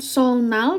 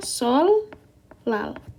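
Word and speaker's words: 설날: Jadinya, ini bukan solnal bacanya, ini bukan solnal ya teman-teman. Kan seharusnya bacanya kan, kalau kita lihat dari Hangulnya, bacanya adalah solnal ya. Tapi karena dia bacimnya adalah ketemu N berubah menjadi L, maka bacanya jadinya sol, lal. Oke, jadi bukan solnal.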